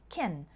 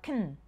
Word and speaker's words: can: with a strong-ass sound instead we say something like kin or kun the word gets shortened